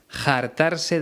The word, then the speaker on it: jartarse: hartaban de reír bueno paco léon pronuncia carta van con jota aunque el verbo original es con h y no suena sería artabán pero en algunas zonas de españa como en andalucía la gente lo pronuncia de esa forma jartarse de reír que